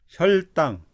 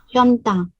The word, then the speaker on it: 혈당: 좀 대답하는 현동, 혈당. 현당. 네. 아니, 혈 리을 받침. 혈당. 현당, 아니요. 혈 해보세요. 혈. 현, 혈. 현당, 현이 아니고 혈.